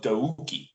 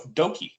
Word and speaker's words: Douki: I'm like, no, it's Doki. You don't pronounce the U.